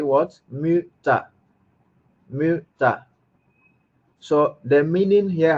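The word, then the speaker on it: Mütter: Muta.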